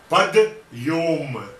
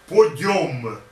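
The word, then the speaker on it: Подъём: He cries Padyom, not Podyom. But Podyom, it is not two words, it is one word.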